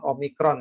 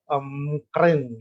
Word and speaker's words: omicron: abjad dari Yunani ya Jadi sebenarnya pengucapannya bukan omicron ya tapi ada ada dua pengucapan yang akan macara orang Yunani mengucapkan ya Om keren gitu Jadi saya juga juga